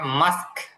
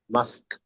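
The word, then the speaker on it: mosque: স্যার আরেকটা বিষয় ওই যে মসজিদের যে ইংলিশ উচ্চারণটা এটা কি হবে একটু যদি বলেন এটা মাস্ক মাস্ক মাস্ক হ্যাঁ মাস্ক এই মসজিদও বলতে পারেন কোন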